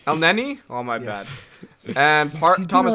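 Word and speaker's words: Elneny: view i thought uh eleni played uh well for arsenal i think that's how you pronounce the game i don't want to say it just tell me how to pronounce it no you're going to up el nenny oh my bad and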